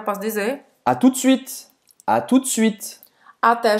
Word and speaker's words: suite: E aí, esse E no final de suite, eu não vou falar, né? Também. Eu não vou dizer suite, vou dire suite. À tout de suite. Ou seja, termina no T, a pronúncia.